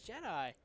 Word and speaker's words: Jedi: on jedi hunter oh they said it wrong they said jetty come on it's jedi jedi hunter he just